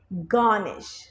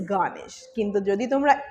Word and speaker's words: garnish: it garnish okay you should not emphasize on that alphabet R so you should you should say garnish okay the word is garnish Indian accent followers you